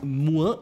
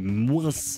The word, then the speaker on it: moins: Ici on a moins et moins. Pendant ce temps-là, quelque part dans le sud-ouest entre Montpellier et Bordeaux, il y a des gens qui prononcent le S de moins.